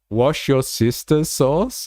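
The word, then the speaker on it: Worcestershire sauce: Yeah, wash your sister sauce is how many Americans is how many Americans pronounce it. Okay, fair enough. I'm learning something. Every day. Every day. Wisher sauce.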